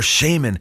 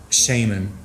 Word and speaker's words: shaman: revealed in the comics batman shaman or shaman as they pronounced the word in british english and he also cited